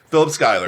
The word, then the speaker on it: Schuyler: There's no C or K in the spelling of it, but so it's Philip Schuyler.